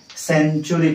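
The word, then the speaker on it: century: को हमें कोन कहंती सेंचुरी कहंती cone कहंती सेंचुरी सेंचुरी नो इट इज सेंचुरी अर्थात एथिरे जो हम टी यू अछि ताको हमें चू आकार रे पढंती सेंचुरी ओके केतोडी जगह रे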